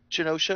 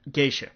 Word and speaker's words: Geisha: Yeah, The Mask of Zara, Armageddon, The Patriot, Pearl Harbor, Spider-Man, Spider-Man 2, Memoirs of Genosha, or no, how do you pronounce that? Geisha. Memoirs of a Geisha.